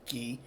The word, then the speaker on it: Chi: want to pronounce that I pronounce it key um so at least I don't pronounce it Kai like the Greek letter uh so some traditional